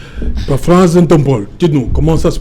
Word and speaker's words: Epaphras: Epaphras Ntombol, dites-nous, comment ça se prononce? Ça se prononce Epaphras tout simplement. Epaphras. Oui, E-P-A-P-H, P-H qui font F.